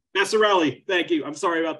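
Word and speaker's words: Vasarhelyi: and wife, Elizabeth Chai Vesser. Vesser, I'm sorry, how do you say your name? Vassarelli, thank you. I'm sorry about that. Vassarelli. It sounds like Italian, but it's actually Hungarian.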